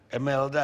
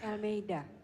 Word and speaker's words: Elmeida: Emelda ya bacanya. Elmeida. Elmeida doang, satu kata Elmeida doang.